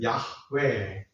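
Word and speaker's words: 야웨: 히브리 말로 발음을 하면 야외 야외 이렇게 이렇게 야외라고 그죠?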